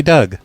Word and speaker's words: Doug: Douge? No, I said it's Doug. Like Doug. It's spelled like Doug, stupid.